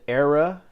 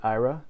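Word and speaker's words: Aira: I'm going to go to the Era and DJ tab. Some people pronounce it IRA. There's no right or wrong way to say it.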